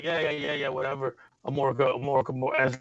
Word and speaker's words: Amorica: How do you pronounce it? Amorica.